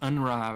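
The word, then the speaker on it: UNRWA: name of that rwa it's pronounced unra but I always forget if it's like w a or rwa I'm going to read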